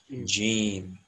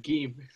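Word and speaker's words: ج: Jim. Is that how I would pronounce it if I was in Egypt? No, Gim.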